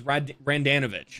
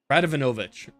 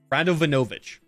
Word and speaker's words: Radovanovic: out right of anovich I heard somebody say his name was randanovich and I'm like that you're missing it you're having an extra in there somewhere radovanovich r-a-d-o-v-a-n-o-v-i-c radovenovich like clockwork 60 minutes